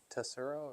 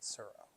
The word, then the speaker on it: Tsuro: Tonight's game is turo. Is it turo or is it surro is silent like in foreigner?